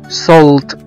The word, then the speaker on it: salt: وزي كمان كلمة salt، S-A-L-T، اللي هو ملح، في ناس كتير جدا بيقروها وبينطقوها غلط، هي بتنطق salt، salt، S-A-L-T، وهنا بننطق حرف الـ A كأنه حرف O.